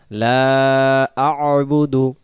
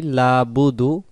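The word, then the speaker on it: لَا أَعْبُدُ: এই উচ্চারণটা যদি আমরা পড়ি লাবুদু, লাবুদু যদি পড়ি আমরা, তাহলে লাবুদু বলে বা পেশবু দাল পেশ দু, লাম জবর লা, বা পেশবু দাল পেশ দু, লা বুদু।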